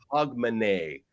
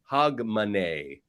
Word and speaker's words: Hogmanay: And then also you should know, Miss R, that it's pronounced Hogmanay. Hogmanay. Hogmanay.